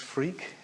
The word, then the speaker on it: Freke: It really is pronounced Freke. It's an old West Country name.